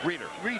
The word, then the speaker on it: Reeder: Too much hands that time by, is it Ruder? Is that the way you pronounce his name? Reeder. Reeder. But I'll take Ruder. No, Reeder. Oh, by the right name.